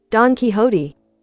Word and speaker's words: Don Quixote: How was he pronounced again? Don Quixote, I think? I'll actually look his son up. Don Quixote.